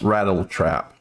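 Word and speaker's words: Rat-L-Trap: do the rat trap apparently it may be pronounced rattle trap rat l trap like rattle i believe that might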